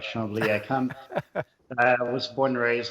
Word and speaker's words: Chambly: By the way, I'm impressed by your pronunciation, Echo. You got it right. Chambly.